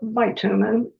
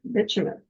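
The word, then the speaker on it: bitumen: And I know you all want to call it bumin but I looked up the pronunciation so you don't have to. And it is actually called bumen.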